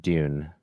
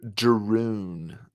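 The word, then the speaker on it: Drune: I think it's pronounced Dune. The R is silent. Yeah. Triple nerding. Yeah. Oh, it counts. The emancipation of Droon.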